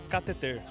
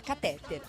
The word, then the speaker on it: cateter: Cateter. E aí, professora? Tá certo? Certíssimo. Muito difícil acertar essa palavra. A maioria fala catéter, o certo é cateter.